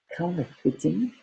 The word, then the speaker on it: counterfeiting: So authorities of the TH, counterfeiting, fit. It's an EI, but the E is silent.